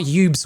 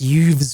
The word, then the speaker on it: Yves: with the ship no it's not ybes with a B it's Yves with a V it rhymes with Hooves you know how horses